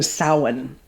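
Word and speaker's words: Samhain: particular split between autumn and winter is is sin which is spelled s a m h a i n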